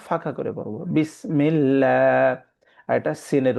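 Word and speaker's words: بسم الله: তখন এটাকে আমরা পড়ব বিসমিল্লাহ। মুখটাকে ফাঁকা করে পড়ব। মুখটাকে ভর্তি করে পড়বো না। ফাঁকা করে পড়ব। বিসমিল্লাহ।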